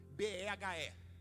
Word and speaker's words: Behe: Nem sei se é assim que se pronuncia, Natan. B-E-H-E.